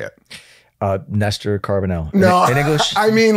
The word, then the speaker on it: Néstor Carbonell: My parents would say Néstor Carbonell. Néstor Carbonell. Néstor, yeah, there's an accent on the E if you want to throw that out.